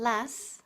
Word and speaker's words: lasts: en inglés, to last, es la pronunciación de la tercera persona del singular, en presente simple, las. El sonido TS final es el mismo que se produce al chistar.